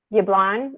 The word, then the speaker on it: Jablon: on here yes um yublon is that how you pronounced here okay so i would check